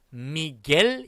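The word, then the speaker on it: Miguel: 보시면 의미 gue 있어요 이거 어떻게 발음해야 될까요 그렇습니다 미겔 이라고 바르면 됩니다 다같이 따라 보자 싼 미 게 다시한번 싼 미 계 자 앞으로는 우리 산미구엘 말고 싼 믿게 이라고 발음하도록 하겠습니다 명심해 주세요 자 맥주 이름이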